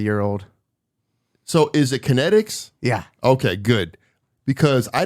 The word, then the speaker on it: KNETX: we're about a year old so is it kinetics yeah okay good because I didn't know how to pronounce this and I'm I was like watching